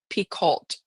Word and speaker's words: Picoult: Jodi Picoult, I believe, is how you actually pronounce it.